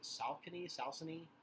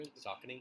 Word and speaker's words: Saucony: I'm gonna mispronounce it. Salcony, whatever. Saucony? Yeah, that's the one.